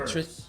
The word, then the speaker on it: Wirfs: All right, Wirfs.